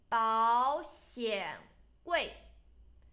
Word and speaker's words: 保险柜: You should pronounce this first one in second term because there's two third term. 保险柜.